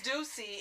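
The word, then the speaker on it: Douxie: name ducey almost call them something else it's juicy and it's spelled like juicy but it's like in french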